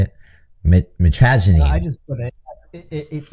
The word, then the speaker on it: mitragynine: Mitragynine. I just put it. It has contains compounds that act on opiate receptors. Yeah. I think it's mitragynine is how they say it, and then they